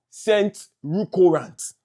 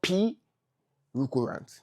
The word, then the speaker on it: Scent-P'ruccorant: So, scent recurrent. Don't mention P. Don't mention P. It's not P recurrent. No. Scent recurrent. The P is silent.